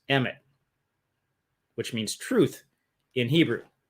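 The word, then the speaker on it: אמת: It's Aleph, Mem, Tet, pronounced Emet, which means truth in Hebrew.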